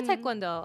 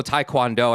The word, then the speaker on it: Taekwondo: Oh, you are Taekwondo. Okay. Pretty baby. And that's why you said it right cuz you actually Yeah, most people go Taekwondo and I'm like, "You're hurting my ears with that."